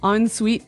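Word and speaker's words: en suite: So even though it's e n, we pronounce it like an o n.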